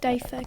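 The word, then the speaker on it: diffa: Daifa. Daifa. Can I have the definition, please? An Arabic reception or banquet. Can I have the language of origin, please? This word is from an Arabic word. Daifa.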